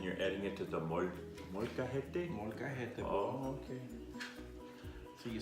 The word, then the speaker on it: molcajete: And you're adding it to the molcajete?